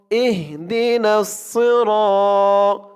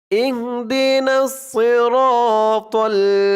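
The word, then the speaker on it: اهدنا الصراط: যেহেতু এখানে সদ, এই জন্য সদের উচ্চারণে করতে হবে, বলতে হবে সজ্জের সই সই।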